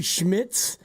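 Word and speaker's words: Szmyt: It's actually Schmidz is how you pronounce it.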